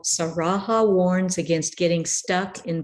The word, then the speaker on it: Saraha: Saraha, I believe I pronounced it right.